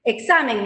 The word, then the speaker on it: examen: a muy muy simple examen es una palabra grave que lleva la mayor fuerza de voz en la penúltima sílaba y las palabras dice